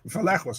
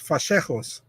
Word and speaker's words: Vallejos: Kevin Vallejos, Vallejos, right? Is that right? Yeah, and listen, last year in Contender, they said it right, and now they say it wrong. Now it's like Vallejos. No, it's Vallejos.